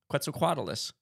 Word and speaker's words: Quetzalcoatlus: oh let's hear it quetzales has five syllables in it wait huh that's what it says because it's really difficult to say properly so if you say it with more or less than five syllables you're saying the name wrong uh-huh well there you